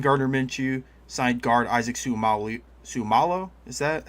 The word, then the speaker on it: Seumalo: Uh signed Gardner Minshew, signed guard Isaac Seumalo Seumalo. Is that how you say his name, Braden? Uh yeah, Seumalo.